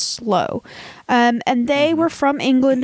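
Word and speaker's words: Sloo: the slow family but it's spelled s-l-o-o but it's pronounced slow and they were from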